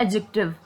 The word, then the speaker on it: adjective: डी is silent, so will say इट एडजेक्टिव।